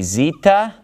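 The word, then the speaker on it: ζήτα: remember the next three are gonna be Zita eita and theta now you can probably guess why I like to group these three but it's because they rhyme so if I can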